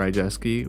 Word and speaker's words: Rydzewski: on all streaming services my name is R jeski which is spelled r y d z wsk k i